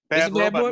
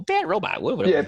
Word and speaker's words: Bad Robot: You can't say it like that. Like what? You got to say it like how at the end of Lost, how it always came on. Oh, Bad Robot.